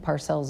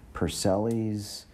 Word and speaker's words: Parcells: butcher my last name I don't think Parcells is that difficult it's not it really isn't but I've had people say Purcell ease parcel ease mailing you don't have